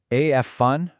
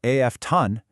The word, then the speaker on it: often: Well, while we learned that the t is traditionally silent making it a w